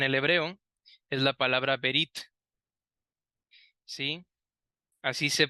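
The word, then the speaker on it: ברית: el original en el hebreo es la palabra berit Sí así se pronuncia verit y esta palabra es la misma palabra que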